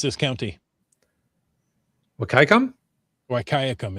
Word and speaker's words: Wahkiakum: Wahkiakum is how I would go. Wahkiakum. Wahkiakum? That's what I've always heard, yes.